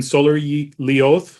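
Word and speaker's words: Sólarljóð: And then in Solar Lioth, is that how you say it?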